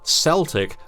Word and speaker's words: Celtic: scholars of their history, with the soft sea, Celtic, a later approximation adopted, most obviously, by sports teams in Glasgow and Boston. While we use the original, the soft sea pronunciation is not wrong in the way that Scottish Gaelic names are often mistakenly anglicised. It's just an alternative.